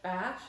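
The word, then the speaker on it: ba&sh: This one I think it's called Bash is how you say it.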